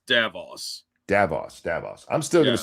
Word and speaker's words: Davos: The only way I can remember it is that it's very similar to Davros, the guy that created the Daleks in Doctor Who. Oh, So you okay. just take the R out and it's Davos.